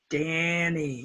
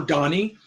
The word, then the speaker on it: Danny: dance man ran van Danny now some people say hello Donny but my name is not Donny Donny is spelled Dee